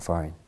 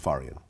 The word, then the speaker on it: Farian: up with Frank uh faran is that how you pronounce that's right Frank faran Frank farian so what's interesting about Frank